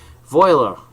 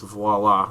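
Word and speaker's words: voilà: the second conditional and as the French would say VOA yeah I know it's voila they can't pronounce anything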